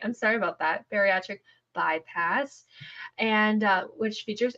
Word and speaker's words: bariatric: this word B please say it for me batric batric byass I can never say it right I'm sorry about that bariatric bypass and uh which features Adrien and she's